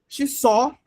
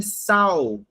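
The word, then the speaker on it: saw: Só a move last night. Gente, só colocando aqui no detalhe, até mesmo antes do Felipe traduzir. Pronúncia só, não é sal, tá bom?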